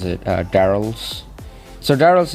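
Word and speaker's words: Darryl: I think that's how you pronounce it, Daryl's. So Daryl's name is actually why they name it, because it rhymes with the barrel that he wears.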